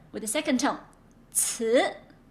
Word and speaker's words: 词: 词, like saying what? 词 tests. Voice it 词 and then give a second tone.